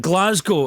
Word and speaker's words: Glasgow: well you've nailed that Glasgow is exactly how you see it my friend and actually Paul you